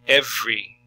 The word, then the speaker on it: every: breakfast breakfast evening evening so you're seeing three syllables you're hearing two evening good every every so uh really you just kind of hear two syllables there every get oneself up